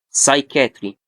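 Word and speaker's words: psychiatry: سايكاتري زي ايه؟ سايتولوجي. الاثنين نطقتهم ازاي؟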